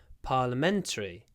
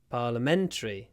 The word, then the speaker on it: Parliamentary: Parliamentary. Parliamentary. The stress moves. Parliament. Parliamentary.